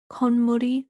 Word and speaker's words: 콧물: That has a pronunciation change there. So we have the word for nose, which is 코, and then 물, which is, of course, water. So if you think, nose water, like not, kind of.